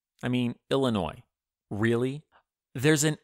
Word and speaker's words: Illinois: why don't we say Illinois because the French hate to pronounce the last letter or sometimes the last few letters of any word that's just their thing